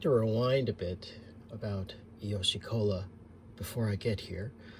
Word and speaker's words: Iyoshi: And the company name is kind of based on Grandpa's initials, I from Ito, and Ryo from Ryotaro, which can also be pronounced as Yoshi, so Iyoshi.